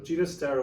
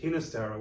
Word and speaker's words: Ginastera: hear his name pronounced hinistera with a with a typical um at the beginning but he actually preferred ginastera his father was from catalonia so the catalan pronunciation was with the g and um that's what